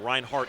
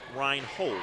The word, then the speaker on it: Reinhold: I was pronouncing his name Reinhardt, excuse me. That's my mistake. It's Abe Reinhold, 6'5" junior, tall post player.